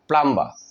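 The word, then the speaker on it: plumber: প্লাম আমরা বলি প্লাম্বার বলে থাকি না কারেক্ট প্রোনাউন্সিয়েশনটা হবে প্লাম্বার পানির মিস্ত্রীকে বলা হয় অর্থাৎ আমাদের পানি পরিষ্কার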